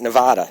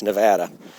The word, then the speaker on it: Nevada: It's not Nevada. It's Nevada.